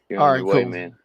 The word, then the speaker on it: Musk: You know, we know he has pronunciation things, but uh Elon Musk is officially pronounced Elon M like mu. It's just there's no SK.